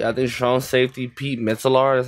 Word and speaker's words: Metzelaars: have Joe Perry at this phone safety Pete mitzelar that's how you pronounce his name and I believe the A2